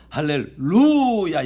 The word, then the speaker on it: 할렐루야: 할렐루야 할렐루야이 원래 이제 할렐루야 발음이 할례 액센트가 있는 것이 아니고요 할렐루야 여기에 악센트가 있습니다 원래이 히브리어 발음이 할례를